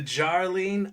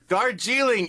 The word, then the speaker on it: Darjeeling: So, anyway, let's get on to the Jarling Unlimited. Did I say it right, Josh? Dargiling. You're like the grandma who can't say Chipotle. Say nuclear. Vegetas. Like, read it the way it's written.